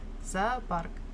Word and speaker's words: зоопарк: Ударение на вторую О. Зоо. За. За. Просто когда мы говорим А и О вместе, как-то их тяжело различить, поэтому звучит как будто бы АА, а на самом деле АО должно быть.